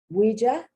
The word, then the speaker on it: ouija: to show you that the oh you has a can also have the wah wah wah sound this is from french ouija now they owe you